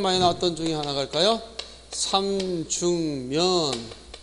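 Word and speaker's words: 삼죽면: 자, 일단 삼중면 할 때 요 분명히 소리가 어떻게 나냐, 미음을 봐서 앞에 기억이 비음화돼서 이런 식으로 소리가 납니다.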